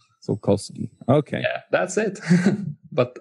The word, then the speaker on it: Sułkowski: It's all usually you just mispronounce the O. It's Sułkowski. Sułkowski.